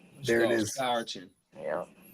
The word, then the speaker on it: Scourton: Let's go Scourton. There it is. Scourton. Yeah. It's not. I was gonna say Scooteron.